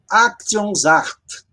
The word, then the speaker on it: Aktionsart: Aktionsart. Aktionsart. O S em alemão, ele tem som de Z.